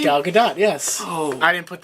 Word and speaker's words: Gal Gadot: wow he's playing Wonder Woman that's how you pronounce her name Gal Gadot yes oh I didn't put that in there